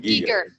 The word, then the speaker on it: Giger: Christina asks, she says, hi Stan, I'm a big fan of Giger, and last week, Giger, they pronounce it Giger.